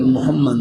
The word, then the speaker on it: محمد: بعض دفعہ تلفظ میں کچھ فرق لگ جاتا ہے، اصل محمد نام ہے، تو اگر نام رکھنا ہو تو پھر محمد نام رکھیں. الحمدللہ. محمد کا مجھے معلوم نہیں کیا معنی ہے، لیکن اصل جو ہے محمد بہت چھوٹی ہا ہے یہ، اور محمد میں